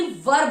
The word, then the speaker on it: verb: इनके बाद जो भी वर्ब आएगा, वर्ब, VERB, इसे ज्यादातर आपने सुना होगा, इट इज वर्ब, इट इज नॉट वर्ब, इट इज वर्ब, यानी र को रखते हैं हम साइलेंट।